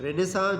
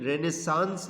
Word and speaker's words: Renaissance: रेनेसां जो है ना, इसकी स्पेलिंग RANAISSANCE है, लेकिन रेनेसांस नहीं बोलते, इसको बोलते हैं रेनेसां। ANCE साइलेंट है इसमें।